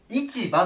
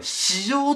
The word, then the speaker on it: 市場: で書くとね市場って読みたくなるんだけどこれ史上と読みます市場って読まないでください市場ねでこれ